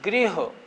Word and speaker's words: गृह: यह तो ग्रह एक होता है नीचे गृह।